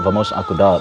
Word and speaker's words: Vamos acordar: Okay, tell us about your latest single, Vamos Acordar, that you did with DJ Cleo.